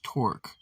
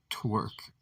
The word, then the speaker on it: Torque: The name, Captain, said the commander, is Torque, not Twerk.